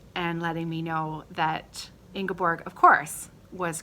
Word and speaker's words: Ingeborg: So thank you, Jakob, for leaving me a comment and letting me know that Ingeborg, of course, was correct, and that is how we pronounce your name.